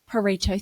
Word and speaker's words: Pareto: It's been a while, actually, because I've noticed that if you're unfamiliar with the Pareto principle, Pareto, thank you.